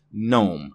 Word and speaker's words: GNOME: and it is pronounced GNOME. The G is silent. But this is not that word. This is an acronym. The first letter, the G, actually stands for GNU, which is why the GNOME developers call this GNOME.